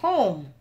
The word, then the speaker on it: Homme: Just an FYI, in French, you don't pronounce the H. So if it is French, you're pronouncing it wrong.